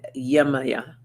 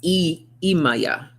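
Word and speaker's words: Yemaya: We have Yamaya, surrender. Surrender. If I can find her. Oh, here she is. It's actually pronounced Imaya.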